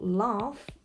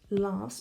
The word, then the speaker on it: laugh: For example, laugh. He laughs. Be careful, this GH is pronounced F.